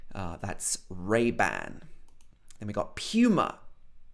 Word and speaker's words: Puma: Then we got Puma. Puma. Okay, this is probably not the pronunciation in the original language, but in the UK we would normally say Puma, not Puma, but Puma. P-U, Puma.